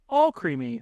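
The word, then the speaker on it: Alcremie: creamy that is correct this is Al creamy or the alternate pronunciation all creamy the way I feel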